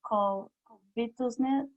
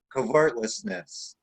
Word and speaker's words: covetousness: Jimmy, on this word, covetousness. Covertlessness. See, even you have a hard time with that. No, I said it wrong. Covetousness.